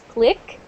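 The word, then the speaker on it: clique: I have a great click like CLI I qu e and Andre says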